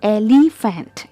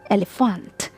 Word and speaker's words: elephant: it's not Fant it's not elepant it's elephant elephant all right got it now